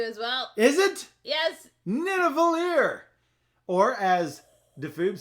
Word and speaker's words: Nidavellir: Nidavellir.